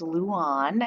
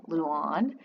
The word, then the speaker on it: Liu An: week and on i i was trying to pronounce it an before but it's on as in yawn luan and it's another vintage